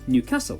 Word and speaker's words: Newcastle: before finishing up in an Newcastle or as the people from the city itself say Newcastle when will they learn